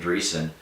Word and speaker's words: Dreesen: DREESSEN. The S is silent. All of it's silent. I never say it.